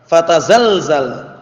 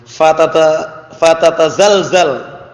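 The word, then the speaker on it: فتتزلزل: Hina man yuridullah inqida'ad dunya wa qiyamas sa'ah ya'murul arda fatazalzal wa tahtazza fatadazzal. Allah musta'an. Apa bacanya? Fatatazalzal.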